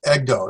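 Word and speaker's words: ἐγώ: So we have go, like let go of my ego. And so it's ego, that means I.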